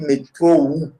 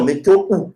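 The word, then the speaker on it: metrou: En roumain, on dit métro ou. Donc, avec U à la fin. Métro. Non, métro ou, sans article. Je parle sans article d'abord. On dit métro ou. Métro. Voilà. Donc, ça s'écrit M-E-T-R-O-U.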